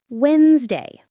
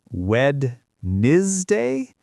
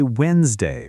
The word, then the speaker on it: Wednesday: Wednesday. Wed day. But we say Wednesday. Right. Exactly. The spelling is strange, but we say Wednesday.